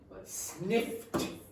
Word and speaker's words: sniffed: Okay, so a lot of you are trying to do sniffed, or you'll do what Juhi did there and just remove the sound completely. Okay, you must pronounce that t sound.